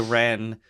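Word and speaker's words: Rennes: Because as he's saying that, Quentin keeps calling him Renz. And the guy's like, my name's not Renz. Oh, yeah. It's Ren. It's French. You don't pronounce the S at the end.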